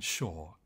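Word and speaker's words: Schore: neuroscientists a man called Alan Shaw spelled with a c c s c h o r e Alan published a review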